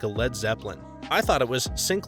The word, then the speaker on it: Led Zeppelin: over by a train Led Zeppelin intentionally misspelled lead as lead they were concerned that lead would be pronounced like the Warriors blew a 3-1 lead to the Cavs rather than lead like